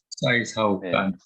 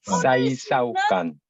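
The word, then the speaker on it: 洗手間: 사이사오간. 그러면 사이 사오 까는 뭐냐면 손을 씻는 공간이라는 소리입니다. 우리가 공간할 때 그 간자가 같은 사이사오간. 발음을 하고 있죠. 사이사오간. 사이사오간 이렇게 되면은 사이사우간.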